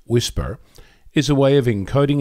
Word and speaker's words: WSPR: you first of all wspr pronounced whisper is a way of